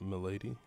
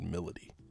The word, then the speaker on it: Milady: it's not milady milady there's no way that you look at that word and say anything other than milady said Melody that's really reductive that's a reductive way to say her name bro it's a reductive